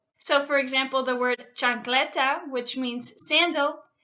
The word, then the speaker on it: chancleta: So for example, the word chancleta, which means sandal, you will pronounce the H because the C is right next to it.